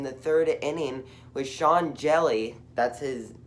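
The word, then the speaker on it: Hjelle: had it in the third inning with sean jelly that's his it's pronounced jelly but it's like h j e l l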